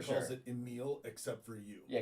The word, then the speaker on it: Emil: Every single person I've ever met with that name calls it Emil, except for you. Yeah, because it's spelled with an E, so it makes a little bit more sense. Yeah, like it's not Amil.